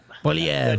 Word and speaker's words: Poilievre: side, you have I don't know how Pierre Poilievre. I can't pronounce his name. Poilievre.